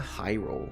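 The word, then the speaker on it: Heiral: Delita Hyrule, that's how you pronounce his last name.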